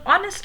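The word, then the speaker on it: honest: एंड the third वन, ही वॉज एन ऑनेस्ट मैन. सी the spellings H और उधर भी एच, बट ऑनेस्ट में H silent है, तो we will not call it alliteration.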